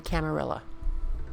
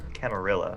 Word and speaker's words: Camarilla: The Camarilla. Camarilla. Or Camarilla, depending on how you pronounce it.